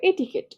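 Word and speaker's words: etiquette: পরের পেজে আসো, এটা একটু দেখো, এটিকেট, এটিকেট, এই ওটার বানান একরকম, উচ্চারণ একরকম। দেখো বানানটা কিরকম, এটি কুয়েট টি, বাট উচ্চারণ এটিকেট।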